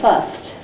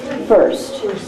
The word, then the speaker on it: first: Now often in India you'll hear people say fust, but that for spelling isn't going to work.